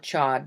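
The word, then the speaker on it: Chöd: It's spelled Chod, but it's pronounced Cho.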